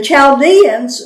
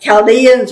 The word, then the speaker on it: Chaldeans: I am raising up, my translation says the Chaldeans, yours may say the Babylonians. And then he begins to describe them. The Chaldeans were people, we call them the Neo-Babylonians, the New Babylonians.